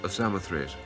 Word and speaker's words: Samothrace: The victory of Samothrace.